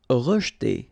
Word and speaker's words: rejeter: Rejeter. Okay, so here the E is not really pronounced, so you get rej.